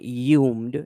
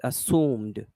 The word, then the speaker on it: assumed: to pronounce this word it's not yumed it's assumed and then and then assumed there's no sound a lot of people